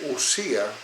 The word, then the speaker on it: ousia: Pero es que sustancia, en griego, entre otras cosas, se dice usía, se escribe ousia, que es el participio presente del verbo einai, que es el verbo ser.